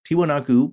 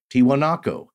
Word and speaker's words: Tiwanaku: Edwin Barnhart, from the Wondrium lecture series, The Lost Worlds of South America, lecture number 12, Enigmatic Tiwanaku by Lake Titicaca.